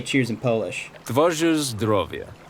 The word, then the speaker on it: Twoje zdrowie: Twoje zdrowie. Twoje zdrowie.